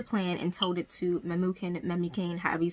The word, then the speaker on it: Memucan: So she devised a plan and told it to Memucan, however you say his name.